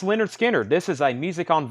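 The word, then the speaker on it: Lynyrd Skynyrd: BBC Sessions 33.99 I've got two of those pronounced Leonard Skinner this is a music on vinyl version 38.99 pronounced Leonard Skynyrd Herbie Hancock Headhunters 38.99 the who who's next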